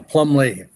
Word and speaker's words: Plumlee: Is it Plumbley? Is that the pronunciation? Right. You got it. Yeah. Plumley.